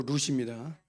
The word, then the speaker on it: 룻: 아무튼 롯이 아니고 룻입니다. 발음이 잘 안 되시니까.